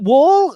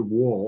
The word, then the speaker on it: Wuhl: So how do is it Wool? I actually Googled how to pronounce it. Actually, it's pronounced. My family always pronounced it Wall, almost like the side of a building.